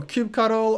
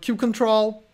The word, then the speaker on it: kubectl: I don't care how you pronounce it qct a little cute cuddle or cute control it is by far